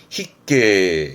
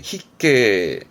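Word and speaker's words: 必携: 휴니 반드시 휴 돼야 될 거를 말하게 됩니다 발음은 히게 히게 필 휴라함은 여러분 예를 들어서 뭐 시험 보러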